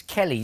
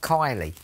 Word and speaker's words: Kelly: for a week but my name is Kelly not Kylie you keep calling me